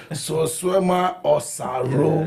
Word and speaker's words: Solsuema Osaro: Chief, let me see if I can pronounce this name properly. Solsuema Osaro.